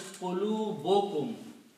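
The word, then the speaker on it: قلوبكم: this is pronounced as qulubukum. Qulubukum, one dhamma is not pronounced when you combine this noun and a pronoun together.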